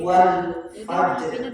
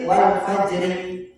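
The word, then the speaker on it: والفجر: ini huruf mati, kau sama seperti wal fajr, bukan berarti wal fajri, Wal fajr. wal asri berhenti. Ada yang gitu bacanya. Wal asri innal insana lafi khusr. Asrinya berhenti. Maksudnya ringnya dibaca. Asyar baru Wal asr. Kalau mau berhenti Wal wal asr. asr wal fajr. Jangan wal fajri.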